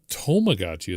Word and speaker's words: Tamagotchi: So, anyways, to Yeah, tomagotchi is what they call it.